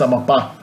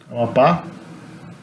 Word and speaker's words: Amapá: If there's an accent mark on the last vowel, it's because it's stressed on the last syllable. So it's not Amapa, it's Amapá. Amapá.